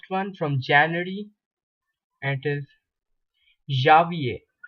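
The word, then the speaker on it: janvier: through the first one from January it is Javier it's a January uh there is a little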